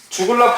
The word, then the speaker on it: 주글라: 키친 파동 두 번째 죽을라 파동 너 죽을 래가 아니라 죽을 나야 그냥 영어로 돼 있는